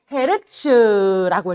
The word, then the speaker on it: 헤르츠: 우리 Hz라고 쓰고 헤르츠라고 읽어 줄 거야.